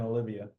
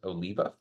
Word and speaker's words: Oliva: the correct pronunciation is Oliva um however a lot of people say Oliva because depending on where you put the accent that's an actual last